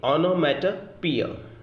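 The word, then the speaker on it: onomatopoeia: दोबारा मैं बोल रहा हूँ, ONO, honour, MATO, matter, पोइया, POEIA, ओनोमेटोपोइया। इसका सही प्रोनाउंसिएशन है ओनोमेटोपोइया।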